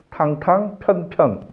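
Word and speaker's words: 蕩蕩平平: 탕탕 편편. 그게 맞는 말이에요. 우리 탕평책 하잖아요. 근데 저희 평으로 읽는 게 아니고 편으로 읽어야 맞는 글자입니다.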